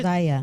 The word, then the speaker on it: Zaire: 12 years old is not old enough to be the symbol of change for Zaire Wade. Is that how you say his name? Uh-huh. No, Zaire's the older son. No, Zaire. Zaya.